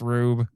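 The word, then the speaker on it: R/B: It's pronounced Rube.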